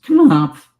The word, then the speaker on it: Knopf: that I would never have, to this day, pronounced Knopf Publishing as Knopf.